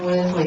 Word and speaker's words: Worsley: And you pronounce my last name Worsley, like Ben Worsley, the reporter.